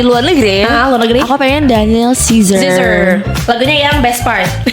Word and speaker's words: Daniel Caesar: Oh, berarti kamu senang banget sama Daniel Cesar banget. Yurinita. Danil Cesar. Heeh. Eh, eh Daniel Caesar. Salah Cesar mah ternyata salah gue ya. Daniel Caesar ya bacanya.